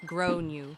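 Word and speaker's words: Gráinne: She asked what I meant, and I said, well, in Ireland, they typically pronounce it like grow new.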